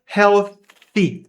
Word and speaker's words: healthy: Se você quiser praticar da maneira correta, healthy. A língua em vez do lábio tocando o dente superior. Healthy. E agora sim. Healthy é uma sílaba tônica aqui.